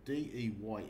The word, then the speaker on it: Deye: This is also branded as another brand called DIE, or DEYE is how you pronounce it.